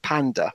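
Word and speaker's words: PÆNDA: is actually a dude pronounce it panda as in the animal tomorrow to death skirt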